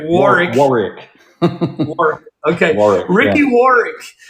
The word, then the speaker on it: Warwick: 58, Ricky how do you pronounce the last name? Yeah, so it's Warwick. All right, Warwick.